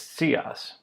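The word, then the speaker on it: scii: is pronounced C II that's s and then a TS sound right after it this is very tricky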